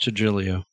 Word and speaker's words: Trujillo: I can say Robert Trujillo, by the way. I am capable of saying it. Pronounced Trujillo.